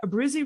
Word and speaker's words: Abbruzzese: Abbruzzese brothers?